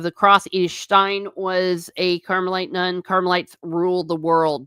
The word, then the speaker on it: Carmelite: No, caramel. C A R M L. Carmelite nuns.